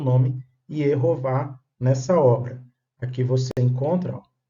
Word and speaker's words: Yehováh: Se você tem um tetragrama com consoantes, as vogais seriam E, O, A, ou Shiva, Roland, Kamatz. E, O, A. Portanto, a pronúncia Yehová.